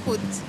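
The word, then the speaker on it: Hutt: Se pronuncia Hood. Hood, no Hat.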